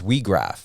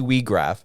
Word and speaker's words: Weag: can blow the whistle your last name is WRA yes I pronunciated that right correct yep that was that